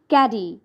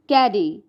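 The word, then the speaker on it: caddy: life number nine is ক্যাডি ক্যাডি শব্দের অর্থ হচ্ছে চা রাখার ছোট বাক্সকে বলে ক্যাডি এক্সাম্পল লেখা gifted me ক্যাডি অন my birthday and remember প্রোনাউনসিয়েশন pronunciation is ক্যাডি নট ক্যাড ইটস ক্যারি number ten is double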